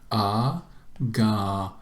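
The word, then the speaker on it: ἀγοράζομεν: Agarasomen. Agarasomen. And notice where we put the accent mark on the alpha there.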